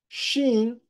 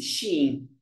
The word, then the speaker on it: Shein: Shein dá mais um passo rumo ao IPO nos Estados Unidos.